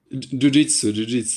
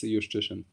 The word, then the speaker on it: Szewczyk: Yeah, Jiu-Jitsu is the best way to pronounce it. Justitian? Jiu-Jitsu, yeah, like the martial art. This is my favorite. Yeah, there was one tournament when someone pronounced it exactly like this, and I remembered it. And this is always, every time someone asks me, I'll just respond, just say Jiu-Jitsu. He loves it. But the correct way to say it is Justitian.